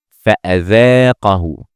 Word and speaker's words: فأذاقه: Notice that the second letter here is Hamza, not Alif. We will not pronounce the Alif because there is a Hamza above it. And as we said before in previous lessons, we said if the Hamza comes above any letter, we don't pronounce this letter, we only pronounce the Hamza. So we say فأذاقه.